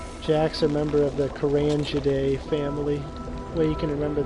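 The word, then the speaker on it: Carangidae: Jack's a member of the Kurangiday family. Way you can remember that is it's spelled with the G, but it makes the J sound.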